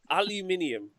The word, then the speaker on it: aluminium: one hair what's this aluminum aluminium is exactly how you say it yeah i loved